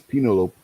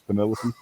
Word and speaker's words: Penelope: anything on there about rasling Jason found his penolope penolope Ford remember it's a bigger version of a the one guy kept calling the one girl penolope because he couldn't pronounce Penelope terrible we all that that whole thing was